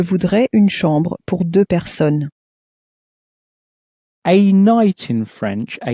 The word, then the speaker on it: personnes: Deux personnes. Again, you'll notice that even though there's two of them, we don't make the sound of an S at the end.